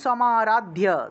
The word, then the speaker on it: সমারাধ্য: সপ্তশতীম সমারাধ্য, সমারাধ্য দয়ের সাথে জফলা থাকায় ধিয় উচ্চারণ।